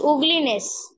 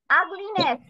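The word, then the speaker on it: ugliness: Miss উগলিনেস। আগলিনেস। আগলিনেস। কি? ইউ এর উচ্চারণ আর মতো হচ্ছে।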